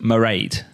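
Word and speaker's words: Mairead: what is your name it looks like but it's pronounced meride that's ireland am i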